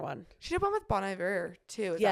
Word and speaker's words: Bon Iver: She did one with Bon Iver too. Is that how you say it? Yeah, Bon Iver.